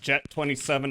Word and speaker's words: Get 27: Get 27 pronounced jet 27.